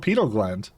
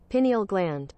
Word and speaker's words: pineal gland: pie I thought I thought it was called penal gland Pinal gland okay okay hold up hold up penal gland pronunciation see pineal gland Peno gland pineal gland that's that Pine is